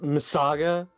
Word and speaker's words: MS Saga: It's pronounced Missaga.